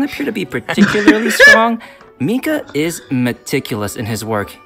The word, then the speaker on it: Mika: playable character Landing in version 3.5 how you pronounce his name Mika yes monster okay you guys ready because we